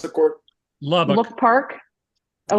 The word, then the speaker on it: Lubbock: That's how you pronounce the court? Lubbock. Look Park. Oh, Lubbock.